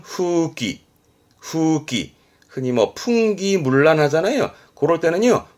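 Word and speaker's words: 風紀: 기강이나 그런 기율을 의미하게 돼요 그래서 대표적으로 풍기 발음은 후기 후기 흔히 풍기문란하잖아요 그럴 때는요 훅 귀요미다스 뮬란의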